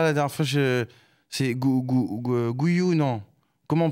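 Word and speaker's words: Guiu: on dit déjà la dernière fois je c'est guyou non comment on prononce exactement guou c'est guou ou non voilà je me demandais s'il y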